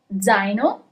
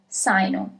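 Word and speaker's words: zaino: Zino, backpack. Zo. So, you have Z. If there was an S at the beginning of this word, then the word would be read as sino, but it's zino as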